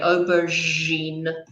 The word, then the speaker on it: aubergine: I call it an aubergine yeah it looks a bit like this it's actually a French word it's not an English word we have taken it